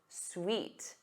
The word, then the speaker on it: suite: But the other word is pronounced sweet.